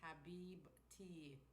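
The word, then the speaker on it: حبيبتي: Habibti, pronounced Habibti, is an Arabic.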